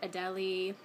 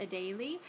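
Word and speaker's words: Adélie: like I think a lot of people might pronounce it Adelie but there's technically an accent mark over the first ii and so that would make it pronounced a daily and this is after the Adelie penguin so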